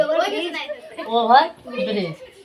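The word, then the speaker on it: bridge: बोलिए हम बोले बोलेंगे ओवर ब्रिज अगला देखोगे ओवर जी से पहले डी साइलेंट हो जाएगा ओवर ब्रिज अगला देखो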